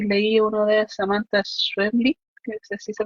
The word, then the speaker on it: Schweblin: He leído algunos libros de Lovecraft y leí uno de Samantha Schweblin, que así se pronuncia.